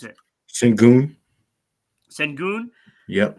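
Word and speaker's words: Şengün: How do you pronounce it? Sengun.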